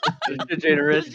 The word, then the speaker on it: DeGeneres: DeGeneres. They would definitely do They it. turned me out. I turn into Ella DeGeneres. Wait, what is her last name? It's not Degenerate. DeGeneres, but DeGeneres.